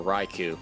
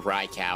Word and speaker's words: Raikou: the pressure on the raiku which really stinks uh or rykau however you want to say i've heard it pronounced both ways it doesn't matter how you say it go for the